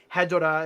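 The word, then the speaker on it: Hedorah: Hedora is how it's said in Japanese, so I just say Hedora, but Hedora is also a.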